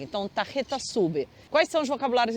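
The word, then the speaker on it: tarjeta: chama tareta Repete comigo tareta se escreve com j o J tem som de R então de cara você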